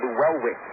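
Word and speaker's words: Luellwitz: got the name right it's a tough name to keep saying Sean lewallwitz l-u-e-l-l-w-i-t-z it's a lot of lip movement to get those syllables in there that's right on the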